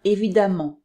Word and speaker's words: évidemment: m m e nt mais attention la prononciation est la même on prononce amant donc par exemple à parent devient apparemment quand on prononce le ici comme a apparemment bruyant devient bruyamment évident de viens évidemment ici aussi le est prononcée a évidemment seule exception l'an on